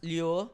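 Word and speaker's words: Lueur: spell It's Leo L pronounced as loo spelled as l u e u r Grabe sobr taino talaga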